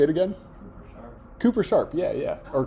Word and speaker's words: Cooper Sharp: Philly, and I would never be able to pronounce it because I'm not from Philly. Say it again. Cooper Sharp. Yeah. Or Coop Sharp.